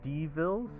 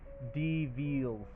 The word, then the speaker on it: Devils: these people called the Devilles, which are devils. However, in this world, they actually prefer, like, that's kind of like a mispronunciation of their names, and it's actually Devils, like Deveeel, Devils.